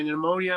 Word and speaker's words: pneumonia: full night's rest my pneumonia might feel a little better I think I'm okay your ammonia pneumonia the P silent P silent I I